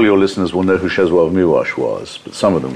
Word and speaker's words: Czesław Miłosz: It's because I pronounce it as the Poles do, because yeah.